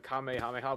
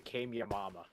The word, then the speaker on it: Kamehameha: But instead of saying it Kamehameha, he called it the Kameyamama.